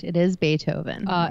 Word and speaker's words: Beethoven: both correct it is Beethoven uh extra points for gritty for pronouncing it the correct German way of bethoven so uh Beethoven was